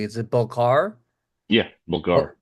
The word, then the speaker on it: Balkar: sure I say your name correctly is it belar yeah belar B I just want to make